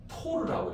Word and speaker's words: 토르: 이걸 760 뭐라고 읽게? 토르라고 읽어. 토르. 알겠지? 토르. 얘들아 우리가 알고 있는 그 토르 말고 그지 망치 들고 있는 애고 알겠지? 자, 토리첼리 이름을 따서 토르라.